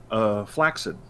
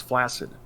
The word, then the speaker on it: flaccid: There's a word called flaccid, right? That for some reason everybody and their brother pronounces flaccid.